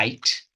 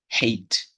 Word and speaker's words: height: A pronúncia é assim, ó, height, e significa altura. E aí eu fui lá, fiz uma apresentação lá, tá, falei e usei essa palavra aqui, só que eu estava usando uma pronúncia errada. Eu estava falando hate, hate.